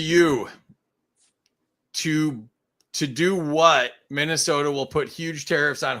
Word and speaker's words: Minnesota: all right been to Minnesota it's cold I think that it's a long o David it's a long o it's Minnesota oh Minnesota yeah there